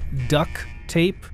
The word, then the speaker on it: duct tape: ooh and duct tape do you say it like duck tape or duct tape i mean it's spelled duct tape but i feel like very few people actually say duct tape because the the two t's get kind of interwoven between the two words you know there might